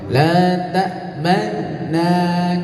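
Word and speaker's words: لَا تَأْمَنَّا: Jadi mencucunya hanya di tengah-tengah saja, tidak keseluruhannya mencucu.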